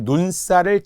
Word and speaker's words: 눈살: 그런데 만약에 살인데 만약에 눈살을 찌푸린다. 그러면은 눈살. 우리 기출문제도 있더라고요. 눈에 있는 살이잖아요. 근데 발음은 쌀이라고 나죠. 된소리 발음이 나요.